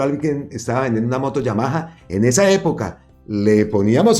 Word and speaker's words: Yamaha: no tanto el logo sino la fuente de Yamaha Yamaha que es como se debe pronunciar esa marca entonces eh felicito a los